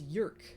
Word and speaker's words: Jerk: someone informed me that jerk Jay urk is like I forget what like it's another language and it just means dress so Jeremy dress and it's pronounced York Jeremy York but it's